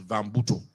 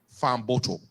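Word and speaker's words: Fahnboto: famoto is f-a-h-n-b-o-t-o sorry yesterday I pronounced it as vambuto but I am told the correct spelling of his name is f a fan f-a-h-n-b-o-t-o Farm bottle so we're told that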